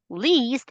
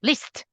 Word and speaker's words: least: Least, it's not list. Not like that, not clipped.